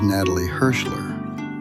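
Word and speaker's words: Natalie Hershlag: The Hebrew pronunciation of her name is Natalie Hirschler.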